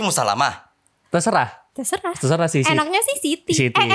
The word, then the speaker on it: Musallamah: Jadi dibacanya Saidati Musalama.